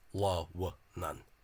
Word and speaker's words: Lughnasadh: as well, presumably, and Connacht, 3 syllables, la-wa-nan. Well, sorry, the vowel shortening would only occur in Ulster, not in Connacht. So not Lughnasadh, as you would think from the Free State misspelling.